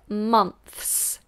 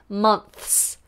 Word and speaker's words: months: we have five five months we put the tongue between the teeth v per month and then an S months it's a tough one even natives struggle with it months months okay some